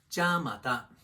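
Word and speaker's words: じゃまた: Ja mata. Pitch accent pro tip. Let's do this one in 2 parts. Ja is a high pitch. Mata starts low and rises in pitch.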